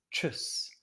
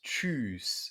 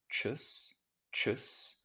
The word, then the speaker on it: tschüss: here is chus so if a vowel is followed by a double s in german then it's short chus chus and if it's followed